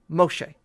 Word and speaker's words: Moshe: name before yes now it is almost identical to the Hebrew pronunciation Moshe the only difference is where the accent is placed um the emphasis Moshe